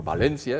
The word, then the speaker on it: Valencia: Antes se hablaba de Valencia, no hacía falta el acento por ninguna parte porque tiene acento tónico, ahora ya no sé cómo se dice, pero Valencia está acentuado en la E.